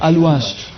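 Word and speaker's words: Alouache: Alush or Aluash? Aluash. After O you have another A? Yes. Then the That's- A. that's Yes. right. Yes. So it should be Aluash, not Alwash.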